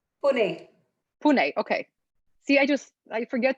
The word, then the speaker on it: Pune: Pune.